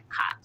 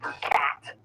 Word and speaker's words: khat: While it goes by many names, depending on who you ask, I'm talking about khat. Just kidding, it's pronounced khat.